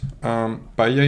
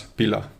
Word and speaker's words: paella: In this case, paella is a rice dish that is very typical from Valencia, the region I'm from in Spain. And when you are using VoiceOver in English, it pronounces it as pila.